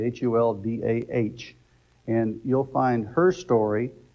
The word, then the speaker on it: Huldah: you heard me right ladies her name is holda that's spelled h-u-l-d-a-h and she was raised up at